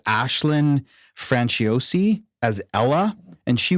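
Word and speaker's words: Aisling: I think I heard him pronounce it Ashlyn. I think that's right. I think it's Ashlyn Franciosi as Ella, and she was in The Nightingale and Last Voyage of the Demeter.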